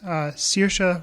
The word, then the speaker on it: Saoirse: And it stars, lots of big people: Colin Farrell, Mark Strong, Jim Sturgis, Ed Harris, Saoirse Ronan, I think is how you say her name, from Atonement.